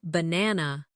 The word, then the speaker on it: banana: For example, in the word banana, the stress is on the second syllable.